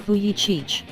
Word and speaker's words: Vujicic: embrace those you love meet nicolas logistic pronounced fuyi Cheech without any medical explanation